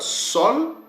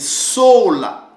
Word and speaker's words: sola: Vous allez voir que ces mots-là, je dis que ça sera soit sol ou soit soul. Mais la bonne prononciation, c'est sola.